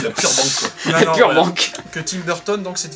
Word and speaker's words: Burbank: Burbanks. Ouais, je pense. Je sais pas, moi je le prononcerais comme ça. Il n'y a pas de S à la fin, je pense. Burbank, alors.